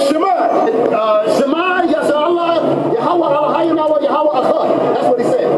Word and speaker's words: Yahweh: The name Jehovah, translated in the Lashon Kodash, is pronounced Yahweh.